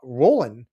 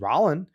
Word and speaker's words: Rolland: I mean, I thought your name was uh Roland. I'm happy you corrected me and told me it was Rolland, but I thought your name was Roland just how it's spelled, right?